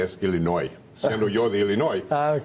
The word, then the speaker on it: Illinois: illinoi siendo yo de Illinois no se pronuncia la s es un tribu Ah Es un y la s es silente No ya escuchaste Manuel